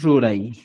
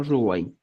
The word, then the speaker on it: Ruray: Para poder escribir, por ejemplo, dice eh, Ruay o Ruray, ¿cuál es lo correcto? ¿Con la UA o con la RA? Ya, ahora el ministerio ya considera que es Ruray, ¿ya? Y puedes pronunciar como Ruay.